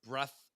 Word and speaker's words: breadth: So you have the whole breadth of people, breath with a D. Breadth.